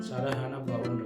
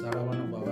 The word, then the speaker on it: சரஹணபவ: சர ஹன அசர ஹனப அந்த சப்தம் முக்கியம் மாறக்கூடாது சரஹன அப்படின்றது அந்த ஹனா ஹ தான் வரணும் சரவணன வரக்கூடாது சரகண பவ அப்படித்தான் வரணும் சரிங்களா சோ உச்சரிப்பை சரியா சொன்னீங்கன்னா